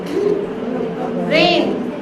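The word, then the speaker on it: reign: There are some words that you need to teach the spelling, like silent letters and all that. How will you teach? How will you teach silent letters? Rain, R-E-I-G-N, how will you teach?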